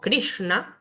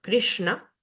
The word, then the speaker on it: Krishna: Tenemos luego esta S que al tener un puntito debajo es un sonido cerebral, se pronuncia con la lengua hacia el paladar superior, como Krishna, Krishna.